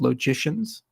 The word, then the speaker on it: logician: study that are called logicians kind of rhymes with magician but it's called a logician and set theorists and